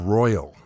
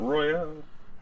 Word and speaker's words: Royal: And I've also been playing Persona 5 Royal. Did I said it right? Not Royale. yeah, not Royale.